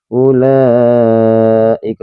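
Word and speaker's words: أُولَٰئِكَ: Jadi, ulaika. Jadi ini wau ini tidak perlu kita ee anggap ya memang tidak dibaca panjang ya.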